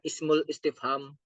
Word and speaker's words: ismul istifham: kelima Isim S ismusf kalau membacanya Veri Indonesianya Isim istifham Oke tapi kalau kalau membaca Arabnya yang bagus adalah ismul istifham Ismu Al ismul mausul